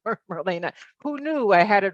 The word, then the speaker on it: Marlene: And although it's, um, E ne, it is pronounced Marina.